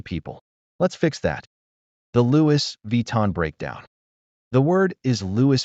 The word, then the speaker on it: Louis Vuitton: Think of the name Louie, not Lewis.